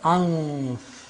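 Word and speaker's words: أنف: In Arabic also you say anf. Nose? You say anf. This is ikhfa, anf.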